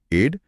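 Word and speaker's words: aide: अच्छा उच्चारण वही है एड लेकिन एड का मतलब मदद नहीं बल्कि मदद करने वाला व्यक्ति यानी सहायक होता है।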